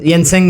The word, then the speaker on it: Jensen: Most likely Nvidia का जो CEO है येनसेन हुआंग, Jensen, मतलब वो J is pronounced as Y. Jensen Huang has said that in 3 years there would be no programming languages.